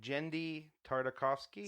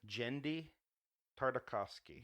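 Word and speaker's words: Genndy Tartakovsky: I think Jendi Tartakovsky. Say it again. Jendi Tartakovsky.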